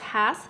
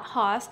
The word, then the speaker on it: Hass: The Hass variety, pronounced Hass, not Hoss, was named after a man who planted and nurtured the first Hass avocado trees in the 1920s right here in California.